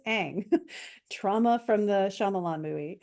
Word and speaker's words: Aang: gosh, sorry for saying Ong, that's not the way you pronounce it, it is Aang.